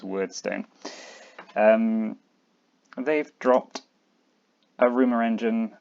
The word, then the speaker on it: Wyrdstone: I'm pronouncing it word light. It might be weird light. I'm going word because of more time, and they officially pronounce Weirdstone as Wordstone.